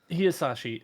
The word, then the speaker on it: Hisaishi: No one ever pronounces his name correctly. It's only Drew. Yeah. Anyways. Joe Hisaishi. Hisaishi.